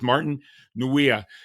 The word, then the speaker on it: Martin Nweeia: This is going to be a good one, and hopefully I'm going to pronounce his name right. Today, my guest is Martin Nweeia.